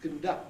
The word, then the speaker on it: conduct: Did you notice, by the way, that conduct had o in the first syllable, but conduct had schwa, or no vowel, conduct, no vowel at all, if you like.